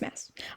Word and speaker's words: Maas: No, it's Maas. Every time I say her name, I want to elongate the A, because that's just, it looks like it would be Maas, but I think it's Maas. That's how the other people say it.